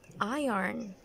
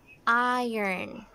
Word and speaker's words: iron: you would actually say yarn yarn it's not iron it should be iron iron I need to iron my clothes iron